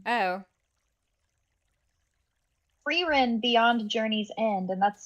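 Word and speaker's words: Frieren: AA recommended Arcane to him Arcane no uh freen oh frein Beyond Journey's End and that's spelled f i f r i i e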